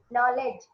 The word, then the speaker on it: knowledge: daily routine we use knowledge knowledge starts with the letter k but k is not audible right so these are